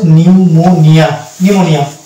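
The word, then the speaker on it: pneumonia: যদি এটা থাকে পিএন, তাহলে সেখানে কিন্তু পি হয়ে যাবে সাইলেন্ট, অর্থাৎ পরবর্তী লেটার এন দিয়ে আমাকে উচ্চারণ করতে হবে। এটা হচ্ছে নিউমোনিয়া, এটা হচ্ছে নিউমোনিয়া।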